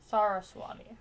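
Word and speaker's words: Saraswati: So apparently Google formal pronunciation is suati. Sarasati. Okay. Not Sarah.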